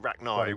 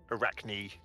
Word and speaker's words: Arachne: In England, we don't pronounce it Arachni, we pronounce it Arachne.